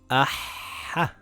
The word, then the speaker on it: أَحَّ: إِثَّThis is the same as this إِثْ ثَIt reads iththa, iththa, very good أَحَّThis reads, Ahha, Ahha, Ahha أَشَّThis reads Ashsha, Ashsha, Ashsha أَوَّThis reads Awwa, Awwa.